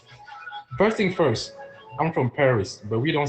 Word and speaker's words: Paris: thing first I'm from Paris but we don't say Paris in French we say par okay we don't say Paris the S at the end of any word in French is silent so we say